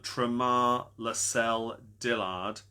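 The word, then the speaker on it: Tramar Lacel Dillard: Which well-known rapper was born Tar Lel Dillard in 1979? I've probably pronounced that a little bit wrong.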